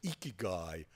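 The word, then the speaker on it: ikigai: there's a Japanese concept which I'll pronounced as iki guy I k AI GA I which means having a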